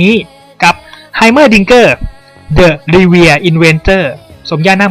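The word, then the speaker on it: Heimerdinger: Goกle ของ Master E ชื่อ ของ เขา อ่าน ได้ 4 พยางค์ คือ Her Dinger หรือ จะ อ่าน ว่า Dinger ก็ ได้ แล้ว แต่ สำเนียง ครับ แชมเปี้ยน คน ต่อ ไป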